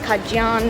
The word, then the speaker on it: Acadian: was so heavy that they actually pronounced it something like a John or something like that and it evolved into Cajun and that's one of